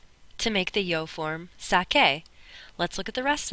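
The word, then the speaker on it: saqué: It would be pronounced sass. That's not right. We want it to be sake. So in order for it to be sake, we have to change the c to q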